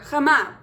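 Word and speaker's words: חמה: So the adjective that you're going to learn today is hot or warm, and it is pronounced cham, masculine, or chama, feminine.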